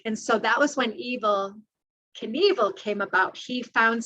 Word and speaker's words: Evel: He found something that was kind of this dark side that that rhymed with his name, although he changed it to, instead of E V I L, to E V E L, like his last name is spelled.